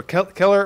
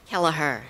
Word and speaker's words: Kelleher: Keller, please, is it Kelleher or Keller or Kelleher? Kelleher. Kelleher. Fran Kelleher. As it's spelled.